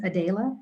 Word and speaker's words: Adele: So my name's Adele is how you pronounce my name.